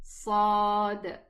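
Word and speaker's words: صاد: This letter is, don't mix it with the sin, it is sad. Okay, sad, heavy, filling the mouth.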